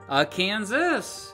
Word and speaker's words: Akansas: Akansas. But those French speakers didn't pronounce the S at the end of words, so it was just Akansa.